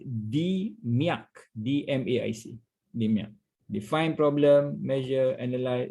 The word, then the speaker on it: DMAIC: only popular in the approach is the i pronounce d miac dmaic define problem measure analyze improve control so